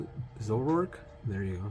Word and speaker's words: Zoroark: The oh, how do you pronounce it? Zoroark? There you go. Zoroark.